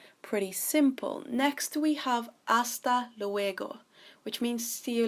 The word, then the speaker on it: hasta: So this is hasta, so the H is silent, luego, luego, hasta luego.